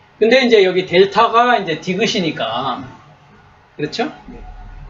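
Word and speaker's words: δ: 발음입니다 기억 억 그다음에 델타 델타 한글의 디귿 발음입니다 디귿 그다음에 엡실론 엡실론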